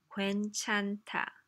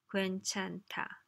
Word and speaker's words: 괜찮다: 괜찮다. 괜찮다. This is the pronunciation symbol, right? 괜, that's hard enough. 찬, which is tricky because there's n and h together.